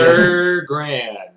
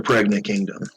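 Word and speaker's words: Pergrande: Per grand. Pergante. It's per grand, or if you must say it wrong, the Pregnant Kingdom.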